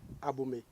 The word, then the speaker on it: Abomey: Mais les Français ne pouvont pas bien prononcer. Sinon les étrangers ne pouvont pas bien prononcer agbomé disent agbomé agbomé jusqu'à ce que aujourd'hui la ville s'appelle abomé. Abomé.